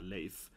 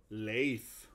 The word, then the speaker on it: Leif: is the one, yeah, Leif. So you can see it's pronounced with the air sound, right? It's not spelled with air, but it's pronounced with that Scandinavian air, so Leif.